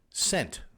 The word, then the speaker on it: scent: n t fragrance odor which letter is silent the s or the c wow you really have too much time on your head no i just want to know which one is silent it could be either one it's the c because it would be